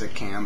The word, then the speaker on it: Stickam: I think it's Stickham, but it's spelled Stickham.